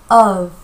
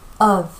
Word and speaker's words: of: of. 여기요. f가 있다고 of 이렇게 읽는다라고 착각을 할수 있거든요. 근데 그렇지 않아요. 발음은요. of. of. of.